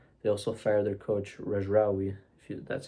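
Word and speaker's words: Regragui: They also fired their coach Rejraoui, that's how you pronounce it, who was extremely rigid to play a 4-5-1 AFCON.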